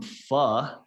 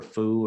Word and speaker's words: pho: Jack got some pho. That's how they told me to pronounce that word. Pho. I wanted to say pho or foo or something, but heard that it's just like saying a bad word, the first part of a bad word.